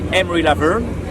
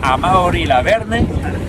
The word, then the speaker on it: Amaury Lavernhe: Yeah, also on the English accent it will be Amaury Lavernhe. Amri. In Spanish it will be Amaury Lavernhe. And in French it's like Amaury Lavernhe.